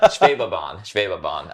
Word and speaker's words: Schwebebahn: One of those is the monorail in Wuppertal, which is pronounced the Schwebebahn. Now I can't even say it. Schwebebahn.